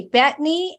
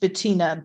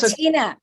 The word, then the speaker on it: Bettina: Okay, Bethany and then Beth. Hi, my name is pronounced Bettina, but that's Bettina.